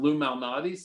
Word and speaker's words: Lou Malnati's: And had some Lou Malnati's. Is that how you pronounce it?